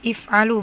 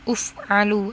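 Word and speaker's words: اِفْعَلُوا: itu ini famaka if'al perhatikan cara membacanya if'alu bukan uf'alu atau af'alu tapi if'alu kalian Kalian kerjakanlah.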